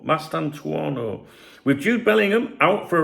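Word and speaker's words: Mastantuono: Um, Goule and how do you pronounce his name? Mastantuano. Mastanto.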